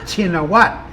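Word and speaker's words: Shinawatra: kingdom spell their name why their name is spelled and pronounced in English shininoa when the shh sound doesn't exist in the Thai language. Uh, and why the RA? Shinowattra. If you watch foreign news, they call him Shinowatra. So, why spell it that way? Why not just spell it the way it is spelled and pronounced in Thai, Chinawat?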